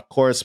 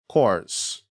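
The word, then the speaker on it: CORS: and cores will be needed to or a course policy will need to be enabled to facilitate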